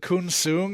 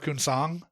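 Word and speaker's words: Kunsang: He says Kun Sung instead of Kun Sang.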